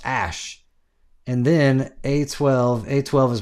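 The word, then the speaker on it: Æ: and then the AE is pronounced like is pronounced ash and then A12.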